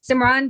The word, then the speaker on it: Simran: gets my name wrong the name is simran but she always calls me sima i don't know i